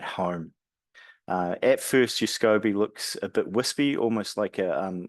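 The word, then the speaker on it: SCOBY: products that you use in Foods um it's pronounced scobby uh it's at the heart of Kombucha um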